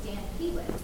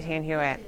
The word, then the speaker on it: Stan Hywet: The last time I was there, they said it is pronounced Stan Hywet from the Old English. Yes. But you say Stan. I do say Stan Hywet. I think both are right, because I think it is an Old English word, but I think